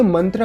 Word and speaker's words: मंत्र: प्रथम रेफरेंस, मंत्रा। ये एक संस्कृत वर्ड है जिसे हम मंत्र प्रोनाउंस करते हैं।